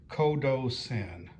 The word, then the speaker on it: Qodosen: In both cases, it's K. So I think the P correct pronunciation is Kodo Sen.